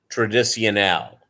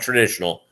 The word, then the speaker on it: Tradicional: The one they have, and they always have it in the freezer, is Jose Cuervo Tradicional. That's with 2 C's in the middle, not traditional, Tradicional.